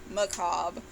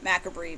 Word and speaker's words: MACABRE: So next is the 2000 release Macabre, which I used to call MACABRE because I was stupid and didn't know how to pronounce things.